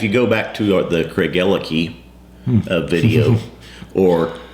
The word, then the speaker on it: Craigellachie: You have actually, if you go back to the Craigellachie video or Craigellachie, as we would pronounce it.